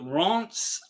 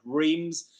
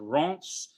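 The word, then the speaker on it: Reims: If you look at the if you look on a French map, you see the town of Reams. It's actually not pronounced Re, it's pronounced Rance.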